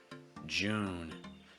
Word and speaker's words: June: The problem here is twofold. Firstly, it's on the oo sound. You want to make sure again it's relaxed enough and low enough. Oo. It's not oo, so it's not Jew, it's Jew. And you want to make sure you're holding that vowel long enough before the N.